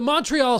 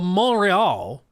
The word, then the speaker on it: Montreal: worked up uh the Montreal Studio sorry I mispronounced it mispronounced it the monreal you just don't annunciate anything in French the monreal studio began